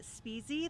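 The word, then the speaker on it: Spezze: The Chaffee County Sheriff, John Speasy, that's how we pronounce his name.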